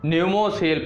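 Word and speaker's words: Pneumosil: अगली जानकारी साथियों है डॉक्टर हर्षवर्धन भारत के पहले स्वदेशी निमोनिया टीके स्वदेशी निमोनिया टीके जिसका नाम है साथियों न्यूमोसिल। प्रोनाउंसिएशन और लिखने में अंतर है साथियों, ठीक।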